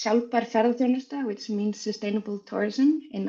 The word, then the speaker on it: Sjálfbær: Hi, I didn't ask her to pronounce my consultancy, but it's shalper, which means sustainable tourism in Icelandic.